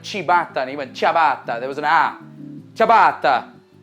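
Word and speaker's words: ciabatta: go about pronouncing it with a typical Italian pronunciation the way they would say it in Italy chab chab chabata all right so instead of saying I'm saying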